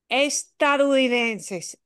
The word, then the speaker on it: estadounidense: estadounidenses, sí, norteamericano, pero la palabra preferida por todo el mundo hispano es estadounidense.